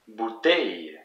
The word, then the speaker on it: bouteille: The word for bottle, bouteille. Bouteille. So there's two syllables in this word, bou and teille, and it's the last one that is the most emphasized, bouteille.